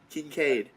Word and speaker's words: Kinkead: His first name is spelled Kinkead. Kincaid? Kincaid? Kincaid. Kincaid is his first name.